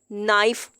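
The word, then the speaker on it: knife: नाइफ, अब हम ये नहीं कह सकते नाइफ, ये गलत होता है। अब यहाँ पे भी के साइलेंट है।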